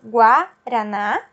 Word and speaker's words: guaraná: Quando ele está acompanhado da letra A, ele tem o U pronunciado. Então, por exemplo, Guaraná, guarda.